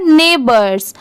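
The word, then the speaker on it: neighbors: HIS, हिज, ये है नेबर्स, इसे क्या पढ़ेंगे नेबर्स। इसकी स्पेलिंग भी आप याद कर लीजिए, ये भी चेंज नहीं होता। NEIGH, ने, BORS, बर्स, इसकी साउंड बोर्स नहीं आएगा, BORS, इसके वजह से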